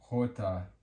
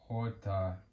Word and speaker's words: jota: E, next up, J is jota, jota, jota. And this letter jota makes the sound like an H would in English. So the sound that H makes in English Jota, J makes in Spanish Jota.